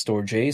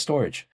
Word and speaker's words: Storj: But then, you know, depending on the way it's pronounced, sometimes it's Storj, sometimes it's Storage.